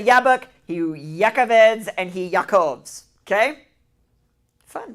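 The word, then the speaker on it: יעקב: Wrestling is pronounced Yakhaveed and that is and Jacob's name in Hebrew is Yakov.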